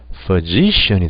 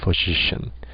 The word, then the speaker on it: physician: 이음절로 액센트가 옮겨가죠. 그럼 아까 전에 E로 발음됐던 것이 어떻게 발음될까요? 우리가 지금 배우고 있는 대로 생각하시면요. 뭐요? 이렇게 되겠죠. 이렇게 슈아. 그렇죠? physician이 됩니다. physician.